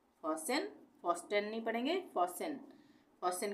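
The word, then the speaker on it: fasten: ए एस टीई एन तो इसको हम पढ़ेंगे फसन फसन फन नहीं पढ़ेंगे फसन फन का मतलब होता है जकना तो आज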